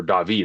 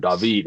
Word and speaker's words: David: But what do you think of Andre Kashe's brother, David, and what he's been able to do? Or David, actually, is how you say it for him. David, how he's able to do.